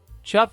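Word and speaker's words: chough: break open a shell chuff is kind of a funny name for a bird it's easy to pronounce this bird's name if you say it like you're saying the word chef these birds have black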